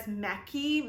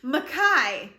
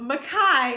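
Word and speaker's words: Mekhi: and i think we kept saying it as meki mec i i don't even in my head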